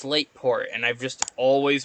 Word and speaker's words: Slateport: It's Slateport and I've just always pronounced it wrong.